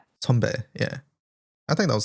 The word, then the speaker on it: 선배: Sunbae. Sonbae.